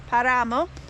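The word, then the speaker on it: páramo: the igu is a paramo that's how you say it paramo and Par is Nas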